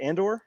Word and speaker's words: Andor: Was it Andor? That's how you pronounce it.